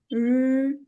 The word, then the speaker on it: 日: 诗 and 日, see, 日. We have to keep, when pronouncing 日, we have to keep our vocal cords vibrating. Yeah.